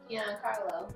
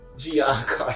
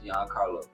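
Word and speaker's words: Giancarlo: his name I said I said it wrong GI Carlo Gian Carlo yeah I didn't even want to say it okay okay okay okay Gian Carlo Gian Carlo the uh he's playing side wer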